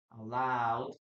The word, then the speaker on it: allowed: So we use here allowed and then we have here allowed. Again guys, we know we never Okay, we never pronounce the letter E.